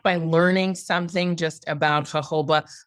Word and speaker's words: jojoba: out there that it's hoba it's actually native to Arizona so that's why it gets the Spanish J which is pronounced like an h and the company was